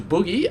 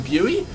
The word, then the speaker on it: Bughy: off my tongue I used to call him Buie and apparently that's not the way to say it so the proper way to say it is Boogie but I don't want to be saying Boogie